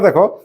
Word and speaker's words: the: বলছি কি উচ্চারণ করছে করদি কখন দি উচ্চারণ করবে যদি ভাওয়েলের আগে থাকে যেমন ধর ইটা ভায়েল তাহলে এখানে বলব দি ইংলিশ কিন্তু কনসোনেন্টের আগে যদি থাকে দেখ কনসোনেন্ট এইখানে বলতে হবে দে বল দে গঙ্গা